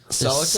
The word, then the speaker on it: Celica: By the way, Celica is said three different ways. Which ways? Celica. Celica. Celica. Celica. Ceraka.